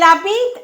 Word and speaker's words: habite: Elle habite à Paris. This verb begins with a silent H, so elle n'habite pas à Paris.